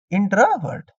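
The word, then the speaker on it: introvert: आप देखिए इंट्रो, ट्रो, ट्रो नहीं ले जाना है, ठीक है, ट्र रखना है, हर्ट नहीं बोलना है, वर्ट, ठीक है, वर्ट, यू आया था, ई नहीं आता प्रोनाउंसिएशन, ठीक है। इंट्रावर्ट, इंट्रोवर्ट, ठीक है, इंट्रोवर्ट,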